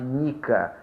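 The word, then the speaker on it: Nika: A mais famosa dela é a Revolta Popular de Nica. O nome aí está Nike, mas a pronúncia seria Nica.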